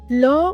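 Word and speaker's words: L'Eau: Innovative at that time law means water and it's pronounced like the letter O which also contributes to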